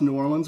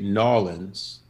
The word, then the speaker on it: New Orleans: How do you pronounce New Orleans without getting slapped? Just like that. Okay. Okay. What shouldn't you say? You definitely should not say Nawlins.